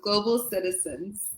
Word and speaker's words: CKtizens: Usually, people will thought that the K is CK or something along the line.